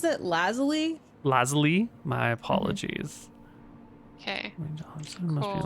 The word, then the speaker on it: Lazuli: She pronounces it Lazuli.